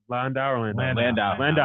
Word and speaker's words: Landau: Landau.